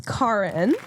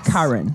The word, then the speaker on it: Kaarin: introduce yourself okay so my name is Cara it's pronounced like car in K in yes Karin Karen yes that's okay